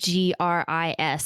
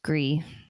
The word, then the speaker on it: Gris: I would go with gree that was one of my favorite games to play and that's spelled gr is so it's like Gris but it's pronounced gree oh my gosh it